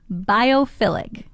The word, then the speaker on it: biophilic: Philic, not phallic.